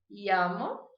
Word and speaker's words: llamo: A primeira pronúncia que eu vou trabalhar com vocês, então, é como se fosse um I. Então, eu vou dizer me llamo. Me llamo. Eu vou dizer número 2, llegar. Llegar. A número 3 é um pouquinho difícil, concentração.